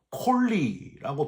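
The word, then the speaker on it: קוֹלִי: 여기서 부르짖는다는 표현은 히브리어로 콜리라고 발음을 하는데 큰 목소리를 뜻하는 그런 단어입니다.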